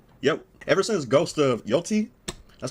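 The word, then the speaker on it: Yōtei: Ever since Ghost of Yoti, that's how you say it, came out, or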